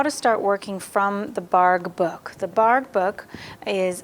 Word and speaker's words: Bargue: introduction of how to start working from the barg book the bark book is a series of lithographs created by charles bargh b-a-r-g-u-e barg is how it's pronounced and he worked in collaboration with his